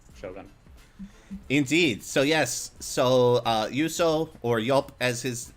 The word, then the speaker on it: Juuso: So yes, so Juuso, or Yelp as his name is, that's how you pronounce it, right? It's a Finnish J.